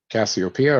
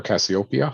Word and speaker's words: Cassiopeia: the letter c cassiopeia yes cassiopeia or cassiopeia there's two different ways of saying it so it's a big